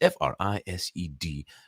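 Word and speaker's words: Erised: I might have said Freist or Frised or Frised or something like that. It's Frised, but I'm pretty sure it's the Mirror of Frised. I think that's how it's pronounced.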